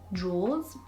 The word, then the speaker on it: drawers: to say drawers drawers but it's drawers just like doors but with an R in the middle that's how someone taught